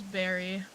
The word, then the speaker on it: bury: We do have them here and it is berry here. Like b u r y is berry.